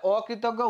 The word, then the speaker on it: অকৃতজ্ঞ: তাহলে অকৃতজ্ঞ উচ্চারণটা কেমন হবে, অর মতনই হবে।